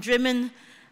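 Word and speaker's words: Drymen: I was in in dman uh once you know which is spelled spelled dry men but pronounced dman but there's lots of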